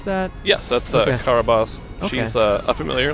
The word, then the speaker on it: Carabosse: And is it the Karabas, or how do you pronounce that? Yes, that's Okay. Karabas.